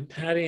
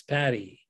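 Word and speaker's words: Pati: My second wife's name was Patty. Oh, yeah? Yeah. Spell it E-Y? No, she spelled it P-A-T-I, actually. Oh, okay. Different spelling, but same pronunciation.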